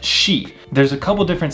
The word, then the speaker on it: shi: What you'll notice about the S sounds pretty quickly is that the SI sound is not si, but shi.